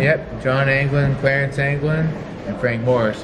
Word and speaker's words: Anglin: And John Anglin? Is that how you pronounce his name? Yep. John Anglin, Clarence Anglin, and Frank Morris here.